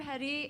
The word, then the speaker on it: Hetty: I'm Hetty. It rhymes with spaghetti.